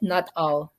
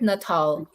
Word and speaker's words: Nuttall: The fund manager's name is Eric Nuttall, Nuttall, not all. So Eric Nuttall, he's from 9 Point Capital Partners.